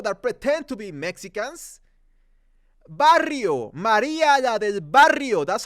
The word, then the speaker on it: Barrio: the movie they say Maria la del Barrio bario is Barrio it has two r's am I really teaching Spanish to people that pretend to be Mexicans Barrio Maria del Barrio that's